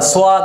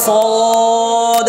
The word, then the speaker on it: صاد: মধ্যে আকার হবে না সদ যে বলতাম এজন্য সদ হবে না ضد হবে না কেমন উচ্চারণটা কি হবে صاد صاد صاد ضد ضد صاد